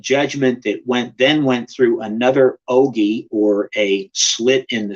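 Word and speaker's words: ogee: And in the hand was what looks like an eye on their symbols, and that eye is actually an ogi. It's spelled O-G-E-E, and the word ogi means a portal, a slit, or an opening.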